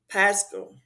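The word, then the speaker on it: πάσχα: So the Greek word pascal pronounced pasca is a child Aramaic origin and corresponds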